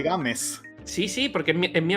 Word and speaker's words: Gámez: nadie entienda mi nombre Mi nombre es Gámez porque games es mi apellido vale dicho esto Entonces sí tenía razón hace que se pronuncia games Sí sí porque en